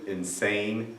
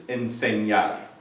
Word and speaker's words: enseñar: Insane. But actually that's not correct pronunciation. It's enseñar.